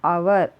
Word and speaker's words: hour: आवर. ओ यू are like this we are sounding. H हम pronounce नहीं करते, silent is there. तो अब क्या हो गया? वॉवेल की तरह हमने प्रोनाउंस किया.